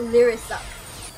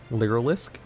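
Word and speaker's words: Lyrilusc: is it is it is this not lyric you're telling me i'm wrong wait how do you pronounce it literalisk that's how you pronounce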